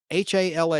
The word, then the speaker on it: Hala: H-A-L-A is how that's spelled.